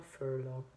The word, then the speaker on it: furlough: really a complicated one, with a lot of the G, the H that you don't pronounce, the O, the U.